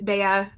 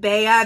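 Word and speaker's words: Bea: a lot uh and Baya I'm not sure exactly there's so many different ways to pronounce the nickname b-e-a I'm going with Baya because I think that's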